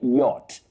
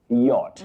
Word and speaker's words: yacht: You say yacht. Yacht. Not yach. It's yacht. A yaching club, not a yaching club. Salim Ahmed, that is the way to say it. Yacht.